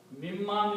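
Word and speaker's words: مِمَّا: the rule of T this noon is pronounced as a meme another meme so it becomes mimma so together this will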